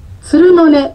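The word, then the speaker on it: 弦の音: から小市のカフェつるのねさんでクリスマススペシャルジャズライブがありますげの音と書いてつるのねと呼ぶカフェですえスタンダードや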